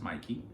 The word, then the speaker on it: Mickey: My grandpa gave me the name Mickey, pronounced Mikey.